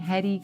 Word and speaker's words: Hedy: And you'll also note that I'm actually pronouncing Hedy correctly, which is kind of a perfect segue because Hedy was actually very heady as in smart.